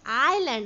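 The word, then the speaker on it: island: Sri Lanka is एन आइलैंड. अब अ आ रहा है, देखो यहाँ पे प्रोनाउंसिएशन में क्या आ रहा है, आइलैंड, सो we will put here N.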